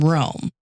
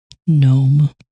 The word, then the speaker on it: Nome: So while most teams started from the Nanana side, Seppala took off from Rome. No. No. Hold, please. Nome.